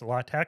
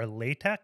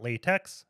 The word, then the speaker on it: LaTeX: latch equation generator um it's pronounced latch or latek it's not latex as I used to always call it I always got looks